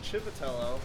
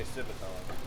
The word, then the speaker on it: Civitello: your last name civitello it's pronounced chippatello but it's been Americanized and people just say sibathon okay well Colton's a